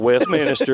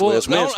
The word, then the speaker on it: Westminster: It's not Westminster, it's Westminster.